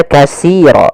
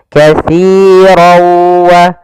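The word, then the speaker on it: كَثِيرًا: Hati-hati dalam melafalkan huruf si, karena di sini jangan dibaca kasiro. Sering terjadi kesalahan, yaitu membacanya dengan kasiro, dengan sin. Padahal di sini adalah huruf sa.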